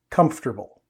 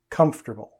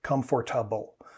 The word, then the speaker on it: comfortable: syllables or more instead of three native speakers pronounce this comfortable comfortable instead of comfortable like learners sometimes do sit down and make